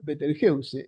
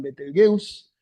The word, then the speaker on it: Betelgeuse: Eh, Betelgeuse se pronuncia Beteljeuse. Esto es divertido porque cuando se habla de esta estrella, eh, algunos lo franquifican y lo llaman Betelgus, otros lo anglifican y lo llaman Betelgus o algo así, incluso está quien lo